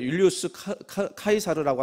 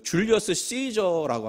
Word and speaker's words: 율리우스 카이사르: 다른 말로 하면 이게 율리우스 카이사르라고 하는 말은 라틴어 발음이고요. 그 줄리어스 시저라고 하는 말로 알려졌죠.